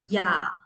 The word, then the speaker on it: ja: මෙතන J තිබුණාට අපි ja කියලා කියන්නේ නැහැ. Ja. එක මේ bookstop එකේ මේ letter එකේ නම yacht. Okay? Ya sound එක තමයි එන්නේ.